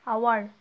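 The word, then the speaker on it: hour: consonant দিয়ে শুরু হলেও তার আগে অ্যান বসবে আওয়ার এইচের উচ্চারণ কী হচ্ছে ও এর মতো হচ্ছে আওয়ার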